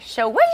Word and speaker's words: Schwing: I've been saying swing. I know. You have to go like Schwing.